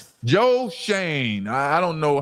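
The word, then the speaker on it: Schoen: And it's pronounced Shane. Joe. Joe Shane.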